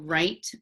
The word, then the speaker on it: write: is right I will write my name so it's our I te right fur in wrinkled WR so the W is silent okay and then for